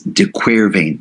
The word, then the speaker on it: de Quervain: It's also known as de Quervain. I love that name. De Quervain rhymes with pain.